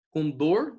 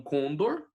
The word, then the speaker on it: condor: condor e não condor, né?